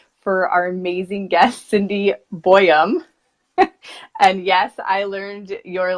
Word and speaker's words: Boyum: Well, my name is Cindy Boyum, as Jamie said, Boyum. She was saying it right, so it's just Boyum, right?